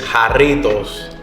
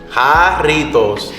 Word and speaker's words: Jarritos: It's Jarritos. Jarritos. I'm gonna Not say going it back, with your voice. Ready? On 3. Jarritos.